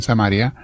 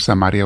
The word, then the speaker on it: Samaria: una iglesia allá en samaria se puede pronunciar samaria o samaria mis hermanos de las dos maneras lo que había ya